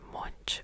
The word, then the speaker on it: Munch: And then we went to the gallery of it's called, see I don't know people pronounce it as either munch or monk as I'm going to pronounce it as monk.